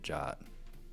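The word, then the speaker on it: JWT: And she pronounces it Jot, and it kills me every time.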